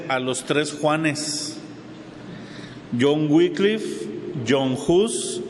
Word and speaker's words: Wycliffe: El primero que les voy a mencionar es John Wycliffe. John Wycliffe se escribe W-Y-C-L-I-F, Wycliffe.